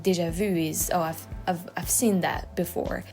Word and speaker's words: déjà vu: as you don't have, so it's déjà vu. And you guys say déjà vu, which vu means you, and it's a completely different word. Vu is already seen, like déjà vu is, I've seen that before.